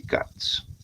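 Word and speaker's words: Katz: ecuación para determinar el índice de cats. CATS se escribe K A T Z.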